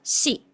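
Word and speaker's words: し: Pero ellos no tienen la sílaba si, sino que tienen la sílaba shi, shi.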